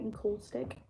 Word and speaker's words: encaustic: Is it encaustic? Is that how you say it? Encaustic? Encaustic, yes.